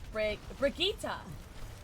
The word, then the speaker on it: Brigitte: Is it Brigitte or is it Brigitte? Is it hard or a soft G? Hey. Stop that. Good rest. Aw, damn. Soft G, 3 syllables. Brigitta.